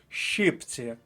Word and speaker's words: щипці: з правопису назва інструменту щіпці наголос на перший склад щіпці п'ять літер шість звуків не забувайте літера ща завжди позначає два звуки щипці перший склад перша колонка закінчуємо цей блок